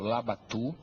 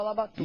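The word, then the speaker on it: Labatut: também grandes comandantes o comandante o General Pedro labat meu velho professor gente deve chamar Como o povo chamava na época e chamava labatu e chamava labatu não era labat não é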